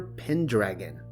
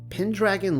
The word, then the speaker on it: Pendragon: He went by the name of Uther Pendragon, FYI. It is pronounced pen, but then you have to follow the syllables through to dragon.